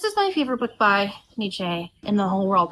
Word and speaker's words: Nietzsche: This is my favorite book by Nietzsche in the whole world. Now you're probably thinking that's not how you say it. If you have heard it just like anecdotally, it's most people say Nietzsche, and they're like, Nietzsche, existentialism, you believe in nothing.